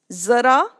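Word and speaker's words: ज़रा: examples in Hindi first Zara so this is pronounced as Zar Zar so you see a n below Z so this is not J it is z another example is Ras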